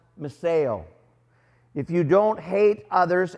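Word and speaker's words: μισέω: Well, in Greek, it's pronounced meseo.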